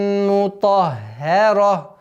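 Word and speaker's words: مُطَهَّرَةً: Сухуфан мутаххара. После твердого звука идет ха. Удваиваем, мягкое произношение. А потом переходим на твердое произношение на ра. Мутаххара.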